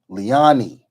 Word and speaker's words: Liani: not say it right it is pronounced Li uh liani right liani okay let me let